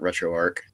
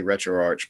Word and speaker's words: RetroArch: um another big thing a lot of the uh out of the UK folks uh call it retroarc um all of all of us say retroarch but there's no official pronunciation so either one is equally valid I was going to